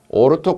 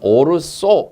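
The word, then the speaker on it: ortho: 구조상으로 오르토 크실렌 또는 오르소 이렇게 말합니다. 오르소 ORTH 그래서 발음을 오르토라고도 하고 오르소라고도 합니다. 둘 다 맞습니다.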